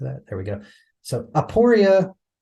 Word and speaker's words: aporia: there we go so aoria or aporia depending on how you might pronounce it but this is where